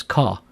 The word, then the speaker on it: Char: the next type is Char Char is short for character and a Char value represents a Unicode character some people pronounce Chara as car either way is fine in this code example